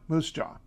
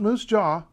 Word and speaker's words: Moose Jaw: want to skatch one Moosejaw not Moose Jaw Moosejaw all right Manitoba is